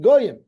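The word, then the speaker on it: גוים: Because the ksiv is gimel yud yud mem. We pronounce it goyim, but the ksiv is gimel yud yud mem, and we dash in goyim as if one of the yuds was an aleph, because sometimes the yud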